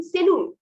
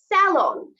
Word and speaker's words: salon: অনেকে এটাকে বলে থাকেন সেলুন। কি বলেন? সেলুন. I went to the salon yesterday, but it's wrong. Correct is salon.